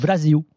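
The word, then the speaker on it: Brasil: disent où Brésil en il disent pas Brésil, ils disent Brazil.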